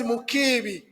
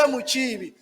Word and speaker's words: Mukibi: When my colleague told me that they don't pronounce the name as Mukibi, they say Muchibi, I was able to change my psyche to Muchibi.